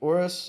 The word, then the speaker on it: Oris: Horus. Okay, Horus. Horus. Maybe I'm completely pronouncing that wrong. I think it's 2 R's. Horus. Horus. So I mean, I'll check it Oris just so people know.